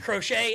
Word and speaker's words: Crochet: I mean, those are 6 really good names, and you pronounce 4 of them right, which is pretty good. Pretty good. It's Crochet and it's Tarek.